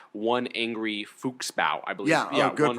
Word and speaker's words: Fuchsbau: tea shop, that episode was called One Angry Fuchsbau, I believe. Yeah, good pronunciation.